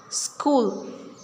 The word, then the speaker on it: school: Ghost, school, honest, what and when. These are words in which we are not pronouncing H.